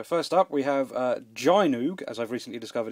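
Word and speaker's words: Gynoug: little look so first up we have uh Gino as I've recently discovered it's pronounced not gyo um this is one of my absolute favorite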